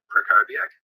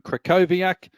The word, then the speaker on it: Krakowiak: Hi, I'm Krakowiak. The W is pronounced as a V.